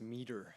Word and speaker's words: Mader: Yeah, it's pronounced meter. Or Meter. Meter, Oh, they pronounced it Mader, so, okay.